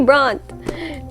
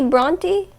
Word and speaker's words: Brontë: drum roll please wait emily bront is that how you say her name no is that how you say her name emily bronty is it really emily bronte not emily braun we got that cleared